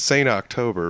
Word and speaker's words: Saint October: But it's Saint October, right? Yeah, it's exactly how it sounds.